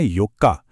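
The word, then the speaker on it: よっか: महीने की चौथी तारीख को कहते हैं योका जहां ओ का साउंड बहुत छोटा होता है।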